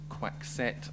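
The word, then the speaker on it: Coixet: is spanish director isabel quack set i think you pronounce it um in the first of what i hope might be many opportunities to name drop i know how to pronounce her name because i met her in edinburgh last year um well two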